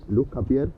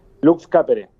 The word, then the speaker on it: Lux Capere: Gustavo, ¿y cuándo este funda Lux Capier? ¿Es así la pronunciación correcta? Lux Capere. Lux Capere, Lux Capere, sí.